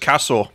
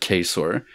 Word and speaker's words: Cassor: to pronounce the name it's just cassor cassor yeah for some reason I pronounce it quor but kasor the incredibly